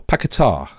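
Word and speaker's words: Paquetá: in there with uh lucas piquette uh or pakitar that's how you say it um even though nobody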